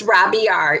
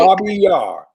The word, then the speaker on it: Robiar: So it's Robiar. It's Arabic. Robiar.